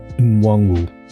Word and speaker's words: Nwangwu: And then what's the last syllable? Wu. Nwangwu.